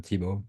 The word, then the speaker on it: Thibaud: I'm Thibaud, pronounced him.